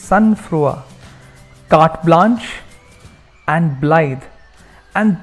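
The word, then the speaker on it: sang-froid: And the remaining 6, the other 6 are cinch, jaunty, proscribe, sunfrua, it's not sang Freud, it's sunfrua, carte blanche, and blithe.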